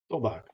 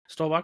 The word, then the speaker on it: Stolbach: How do you say it? Stolbach? Stolbach. Stolbach. Oh, I got right on the first try.